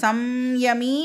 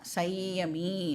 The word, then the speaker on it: संयमी: இந்த சம்யமி அப்படின்னு சொல்லலாம், இல்லைனா சையமி அப்படின்னும் வந்து அதை நாம் ப்ரொனவுன்ஸ் பண்ணலாம்.